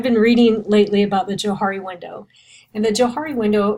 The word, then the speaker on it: Johari: dynamic if you will so I believe it's pronounced a Johari Window Joe Hart excuse me the Johari went